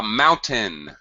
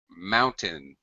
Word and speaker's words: mountain: speakers included okay uh mountain mountain uh not Mountain first syllable stress Mountain okay uh pronunciation but